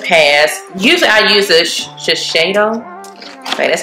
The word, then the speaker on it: Shiseido: Usually I use a Shiseido.